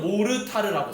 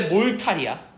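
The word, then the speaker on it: mortar: 근데 한국말로는 모르타르라고 써요. 됐죠? 원래 몰탈이야. 알겠지? 발음 자체는. 그래서 정확히는 어쨌든 시멘트는 무슨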